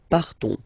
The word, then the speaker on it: partons: So classic ending ONS, you don't pronounce the S, you just have this on sound nasal. Nous partons, nous partons.